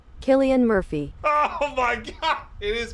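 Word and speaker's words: Cillian Murphy: Pronunciation. Oh my god, dude. You're so right. Killian Murphy.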